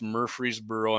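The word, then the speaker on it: Murfreesboro: But uh so they're going to be constructing 170 acre greenfield site in the company's Murreey'sboro. I'm not pronouncing it wrong. It's Murreey'sboro.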